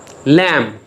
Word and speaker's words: lamb: तो आप देख रहे हैं कि जहाँ पे भी MB आया है तमाम अल्फाज में B म्यूट हो गया है, B साइलेंट हो गया है, B को नहीं पढ़ा गया.